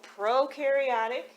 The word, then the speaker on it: prokaryotic: prokaryotic cell we know prokaryotic pro rhymes with no so it has no